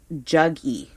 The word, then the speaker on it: Jaggi: His name again it's spelt Jaggi. Juggy is how you pronounce that.